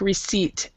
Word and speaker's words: receipt: It's just like receipt. A B or a P before a T is silent.